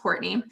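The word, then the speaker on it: Courtnay: So that is why there is the N-A-Y, but it's still pronounced Courtney.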